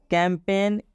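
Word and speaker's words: campaign: resign resign का मतलब होता है इस्तीफा देना कैंपेन कैंपेन में भी जी के बाद एन आया है मतलब इस एन का उच्चारण होगा लेकिन इस जी का उच्चारण नहीं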